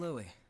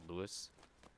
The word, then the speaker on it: Louis: I'm Louis. I'm researching blood beads. Nice to meet you. Nice to meet you, Louis. I guess the S is silent, which is weird. I thought it would be pronounced Louis.